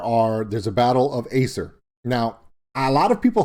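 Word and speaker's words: Ypres: i i know it's y-s-e-r but it's it's acer that's how it's pronounced so ah got you this time but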